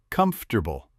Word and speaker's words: comfortable: It's not comfortable with 4 syllables. Most native speakers say comfortable, 3 syllables. Vegetable, not vegetable.